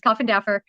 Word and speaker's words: Koffendorfer: Okay, so I have to tell you, that's actually how it's pronounced, is Koffendorfer. But so many people say that it's just kind of stuck.